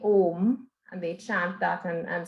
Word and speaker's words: Om: So you break it up into 3. So it sounds like ah, o, ah, o, So I'll demonstrate.